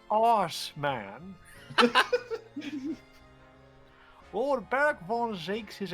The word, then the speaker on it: Assman: Assman. He was another of the Reaper's victims, or so I heard. Mr. Ass Man. What y'all giggling Lord about? Berg, The he's butts. pronounced arse man.